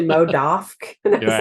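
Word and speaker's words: MODOK: the mo What mo how do you say it mode off it's actually mod off and it was like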